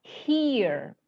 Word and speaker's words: here: Ini dibaca here. Dibaca here. Here. Bukan dibaca her, bukan dibaca here, bukan dibaca hair, bukan dibaca hare.